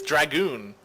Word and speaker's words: DrAGoOn: next II I probably just next it is dragoon i butchered that so hard I'm so sorry man